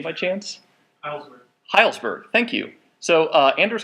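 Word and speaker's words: Hejlsberg: So does anyone know Anders, or how to pronounce his last name by chance? Heilsberg.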